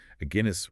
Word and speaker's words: Aguinis: Aguinis rhymes with Guinness.